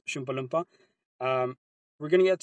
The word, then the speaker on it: chalupa: get that chalupa Chala please please say it correctly have have some respect out here it's called shalpa um We're going to